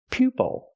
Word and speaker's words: pupil: first syllable it's pupil pupil and it's a student a student can be be called a pupil use the long u sound like U PE pupil a student can be